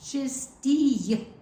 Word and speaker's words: чистій: make in the Cyrillic, it would be I followed by another letter, which is like an U with a little Accent on it. accent on the top. So that's why, because you have to pronounce it чистій.